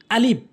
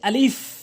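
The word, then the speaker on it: ألف: আলিফ, এটি ভুল উচ্চারণ, এর সঠিক উচ্চারণ হচ্ছে আলিফ। আলিফ ভুল উচ্চারণ, এর সঠিক উচ্চারণ হচ্ছে আলিফ।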